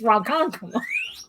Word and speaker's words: Ronkonkoma: Well, for us, the joke with movie phone was that it would pronounce Ronkonkoma, Ronkonkoma. It's Ronkonkoma. Now I got a problem